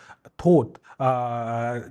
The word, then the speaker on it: Thoth: Osiris is, while he is associated with alcohol, then there's other god, Thoth. Similar, it is pronounced similar to thought.